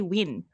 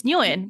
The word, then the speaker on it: Nguyen: Yeah, so if you say it right, but in the US, right, they say Win. Like Win. I thought it was Win. No, it's Nguyen. We say Nguyen.